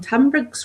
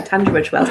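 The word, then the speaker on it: Tunbridge Wells: suzan's uh tided talk from tumbs well TBS is it how you say it Liz tonbridge Wells there we go tund Bridge Wells i' got to ask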